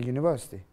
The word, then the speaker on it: university: you say a university because it's not like a you it's like a University University okay and here